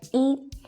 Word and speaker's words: 一: attention about this character 一 is its pronunciations. To be more exact, its tones. When 一 is used as a numeral in sequence, such as when you're counting, it is the first flat tone.